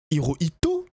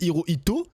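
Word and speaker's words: Hirohito: Le Japon, c'était pas un très beau pays à l'époque parce que c'était l'empereur Hooito. Non, je crois que je l'ai mal prononcé. Hiroito, je le Non, ouais, c'est ça. C'est Hiroito, donc le le l'empereur à l'époque qui a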